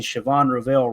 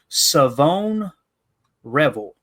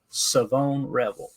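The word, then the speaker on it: Shavon Revel: this right it is savone Revel is how you say his name Savon Revel I'm sure I'll forget that by tomorrow like take the H out there what are we doing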